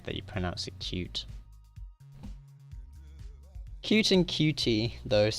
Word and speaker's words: Qt: do you say it QT or Q because it always pronounced cute okay that makes sense QT it's so on the Wikipedia it says pronounced cute and there are three